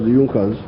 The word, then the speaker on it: Junker: the junckers it's written in junkers but it's pronounced as junkers in the german kingdom of prussia one of